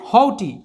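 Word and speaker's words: haughty: হটি এর উচ্চারণ হবে হউটি।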